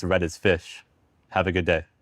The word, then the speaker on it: ghoti: You think this word is pronounced gotti? Joti? No, it's fish. The word is pronounced fish and there's nothing you can do about it. The gh comes from the f sound in tough.